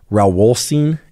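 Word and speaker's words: Rauwolscine: Alpha yohimbine it sometimes goes by the name raulstein and that's spelled r-a-u-w-o-l-s-c-i-n-e again that's Alpha yohimbine and it's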